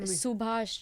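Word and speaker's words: Subhas: what's his name again Subash Chandra Bose so but can you spell that for me Subash su be a sh Subash Chandra CH a n dr a Chandra Chandra which is Bo se like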